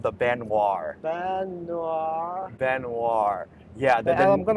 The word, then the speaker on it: Baignoire: this is how you pronounce okay guys we pronounce it the cardier benoir yeah so guys Alex is joining us and